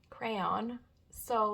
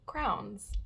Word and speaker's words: crayon: that you color with I've always called them crowns I don't know if it I don't know it's just the way I always pronounced it so it was just hilarious to kind of see I think I was the only one so let me know how you pronounce crowns if it's crayons or crowns let me